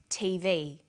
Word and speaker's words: TV: Notice that each letter in the abbreviation is pronounced separately, but the last letter is pronounced more strongly because it carries the primary stress. So we say USA, ASAP, ABC, and TV.